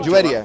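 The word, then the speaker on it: Juwayriyah: Muhammad's wife, Juwaria, is that how you pronounce her name? Juwaria, yeah.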